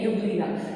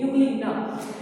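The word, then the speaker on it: Euglena: Here E is silent, so it will be pronunciated as UGLENA, यूग्लिना, ठीक है। E को हम hide करके बोल के देखेंगे, यूग्लिना, ठीक है।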